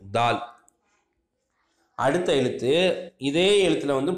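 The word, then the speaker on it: ذال: இந்த கதவுல இருக்கிற உச்சரிப்பு தான் இந்த தாலுக்கு உண்டான உச்சரிப்பு, தால். அடுத்த எழுத்து, இதே எழுத்தில் வந்து புள்ளி இருக்கிற எழுத்து. இந்த இதை எழுத்தை எப்படி உச்சரிக்குன்னு சொன்னால், நம்முடைய நுனி நாக்க நுனி பல்லில் வச்சு தால் அப்படின்னு உச்சரிக்கணும், லேசாக வரும் இது.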